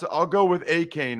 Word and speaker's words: Achane: Nope, it's Devin, Achane. Neither one of us know how to pronounce it. I'll go with Achane right now.